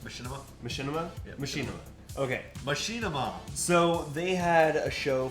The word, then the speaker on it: Machinima: machima uh they is that how is it pronounced Machinima Machinima Machinima okay Machinima so they had a show for a little